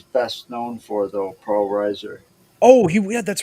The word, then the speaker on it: Reiser: I'm hoping I'm pronouncing that right. Reiser. Reiser, yes.